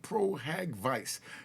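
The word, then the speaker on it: pro hac vice: Busby has to seek pro-hack vice. Now, pro-hack vice, that's how it's pronounced. Pro-hack vice. Pro-hack-VIC. But we, in the court system, we just call it pro-havoc.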